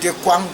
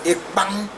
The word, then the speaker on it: ekpang: And other people call it ekwang, but that's not the right pronunciation. The right pronunciation, as a Balondo man will call it, is ekpang.